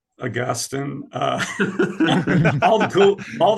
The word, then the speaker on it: Augustine: editors of the book but this is about Augustine this is the age-old debates I wanna um